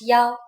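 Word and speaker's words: 幺: numbers and so on we pronounce one as ya for example a bu number 101 is pronounced Y and you can even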